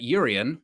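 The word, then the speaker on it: Jurriën: Florian Plettenberg says that Urian, Soft J, Timber could join Erik ten Hag at Manchester United.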